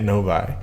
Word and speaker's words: Novi: Novi.